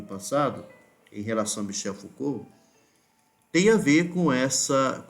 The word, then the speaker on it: Foucault: como se escreve e a forma como se pronuncia Michel Foucault Tá certo vigiar punir né o básico assim que a gente trouxe inclusive no vídeo passado em relação a Michel foua tem a ver com